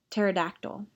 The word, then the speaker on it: pterodactyl: Dinosaurs are creatures that have names like Tyrannosaurus, Stegosaurus, Brontosaurus, and Pterodactyl. The last one is really hard to spell because the P at the beginning is silent.